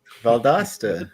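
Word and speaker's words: Valdosta: Valdasta dopost rhymes with cost.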